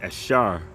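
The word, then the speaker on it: אשר: And the people of Asher are the people that are from in Colombia to Uruguay. And in the Hebrew, their name is Ashar, which means happy.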